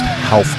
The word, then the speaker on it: Ralph: And then, isn't that, it's pronounced Half Gracio, correct? Yeah, that's correct. That's a common error, though, amongst all. Yeah, it's actually spelled Ralph, but there's no, the R is pronounced as an H.